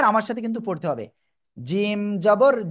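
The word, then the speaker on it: ج: তাহলে আমরা কি করব জিম অক্ষরটা উচ্চারণ করব জিহ্বার মধ্যখান তার বরাবর উপরে তালুর সাথে লাগিয়ে ঠিক আছে জিম জিম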